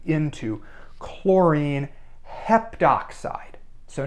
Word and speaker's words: heptoxide: Rule and that's that if you have AO or oo turn it into o here's what that means we got this heptoxide here so to make